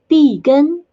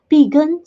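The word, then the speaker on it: 碧根: as you can tell vegan sounds very similar to the english pecan so that's where we got it that's what we got the mandarin name for that we use the similar pronunciation vegan to refer to pecan and then we state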